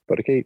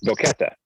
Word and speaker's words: Boquete: the town we've been hanging out in, but Bodakute. I'm saying it wrong. Yeah, right now. No, yeah, it looks like it's a Boquete. Boquete.